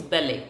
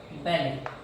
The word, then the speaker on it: ballet: Okay, so that is not ballet, it is ballet. इसको ballet बोलते हैं, T is silent. Okay, so the first dance form is ballet.